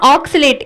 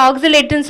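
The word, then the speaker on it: oscillate: 11வது வார்த்தை என்னன்னு பார்த்தீங்கன்னா ஆக்சிலேட். இது ரொம்ப ரொம்ப முக்கியமான வார்த்தை, அன்றாடம் பயன்படுத்தக்கூடிய வார்த்தை ஆக்சிலேட்ன்றது. ஆக்சிலேட்ன்றது நிலையான நிலையில இல்லைன்றது சொல்லும் போது ஆக்சிலேட்னு சொல்லுவாங்க. இந்த இடத்துல உச்சரிக்கும் போது நல்லா கவனிங்க, ஆக்சிலேட் சொல்லணும், ஆக்சிலேட் கிடையாது.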